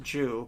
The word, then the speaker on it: Zhu: And ZHU, that should be pronounced Jew, but that's a Chinese last name.